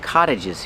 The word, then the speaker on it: cottage: There are a lot of cottages here. Pronunciation. The T makes a fast D. Cott cott cottage.